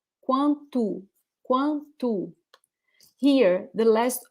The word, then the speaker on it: quanto: We have there the sound quanto. It's very quickly pronounced, but it's there. Quanto. Yeah, the last O here is actually U.